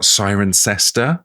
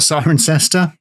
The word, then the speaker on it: Cirencester: Uh, we've got Sirencester. To to Yeah, we got Sirencester, which is unusually spelled the way it sounds.